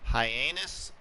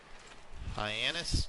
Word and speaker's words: Hyannis: It's Hyannis, I think. But the town is pronounced Hyannis, Nebraska. Hyannis, Nebraska. But we're gonna be heading out to Hyannis because our stepson, took a new teaching job